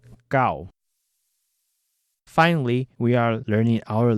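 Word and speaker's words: 九: Just remember that the number 9 is called gao. Finally, we are learning our last number for today. The number 10 is pronounced zap.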